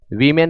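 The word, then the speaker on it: women: वीमेन पढ़ेंगे, ओमेन नहीं।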